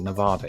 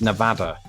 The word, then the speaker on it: Nevada: and Nevada excuse me I've gone through all this quiz and I pronounce it Nevada it's Nevada I corrected myself once